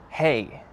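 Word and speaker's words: hej: But in Slovak, the word hey, it's spelled differently. So instead of H-E-Y, it's H-E-J.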